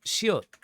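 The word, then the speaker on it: 시옷: After biup, we have shiot, which shiot is, again, S sound.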